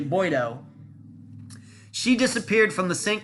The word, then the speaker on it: Boiteau: It's not Boiteau. I've been pronouncing it Boiteau. It's actually Boiteau.